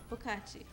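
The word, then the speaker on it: 不客气: Bukachi.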